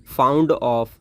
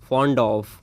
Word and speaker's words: fond of: बहुत सारे लोग इसके प्रोनाउंसिएशन जो होते हैं वो करते हैं फाउंड ऑफ, जो कि रॉन्ग प्रोनाउंसिएशन होता है। इसको बोलना है आपको फॉन्ड ऑफ, राइट।